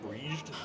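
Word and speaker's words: Bríd: Now I've also heard it pronounced as Breeged. Breed, well, like- breed, but in Irish they would say breed na Gael, the breed of the Irish, the British of the Irish.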